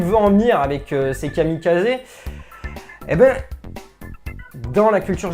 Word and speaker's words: kamikaze: un très bon exemple les kamikazes qu'on appelle les kamikaz ça se prononce kamikazé donc c'est le dieu